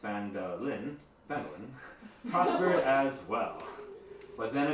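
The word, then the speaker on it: Phandalin: Times were good, and the nearby human town of Phandelver, pronounced Phandelin, prospered as well.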